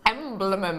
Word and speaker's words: emblem: emblem emblem emblem emblem it's only two syllables emblem I'm trying too hard